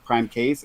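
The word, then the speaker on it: PrimeCayes: uh yeah so if my name is uh Prime p-r-i-m-e-c-a-y-e-s you're gonna pronounce the prime case it's okay it's fine um but uh you can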